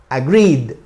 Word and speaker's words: agreed: Cuando termina como vocal, el último sonido vocal y no termina en D, pues se pronuncia como D. Y se pronuncia aquí, cuando le agregamos la ED, se pronuncia agreed, ¿ok?